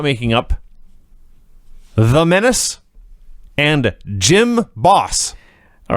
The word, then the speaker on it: Jim Boss: boss no gym boss gym boss like you go to the gym he's the gym boss he's the gym boss so the gym boss is out here it's spelled Jim by the way everybody but it's Jim boss sure he's out there